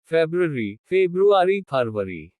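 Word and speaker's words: February: कुछ शब्दों में R का उच्चारण नहीं होता। फरवरी।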